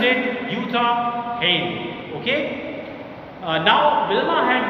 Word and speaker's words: Jutta: Okay, now student, there may be a confusion in your mind that it is J-U-T-T-A, but in this name J is silent, so I pronounced it Jutta Hahn.